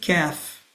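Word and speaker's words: كاف: And the next is calf. Calf is just above cough. Calf this is similar to normal k in English.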